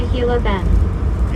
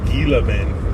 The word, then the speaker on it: Gila Bend: You're almost to Hila Bend. Yeah. Yeah. I just got into into Hila Bend or as I call it, Gila Bend. Pronounce that G pretty pretty good.